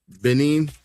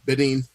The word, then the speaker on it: Benin: So we're gonna start with Benin. Am I saying it right? In Togo? Benin. Yeah, Benin.